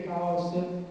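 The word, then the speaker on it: χάος: Per dire Chaos in greco si scrive con una lettera che è la chi, che va pronunciata spirata, quindi Chaos è la bocca aperta, come dire.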